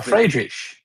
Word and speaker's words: Friedrich: F Oh, Friedrich. Yeah. or fraish. Yeah, because they usually I mean I think Berlin pronunciation the ch it's supposed to be fried but they do the sh thing instead.